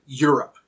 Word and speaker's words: Europe: believe it or not the word Europe for example the EU sounds like why as in the word youu or your and what's the rule about the pronunciation of why if it begins a word or syllable it is a consonant so the Y sound in Europe acts as a consonant even though it's spelled with EU rather than y in fact we even